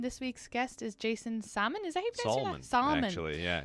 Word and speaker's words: Salmon: week's guest is Jason salmon salmon actually yeah it's spelled salmon okay so if you're looking for me online s-a-l-m-o-n like the fish that's how you do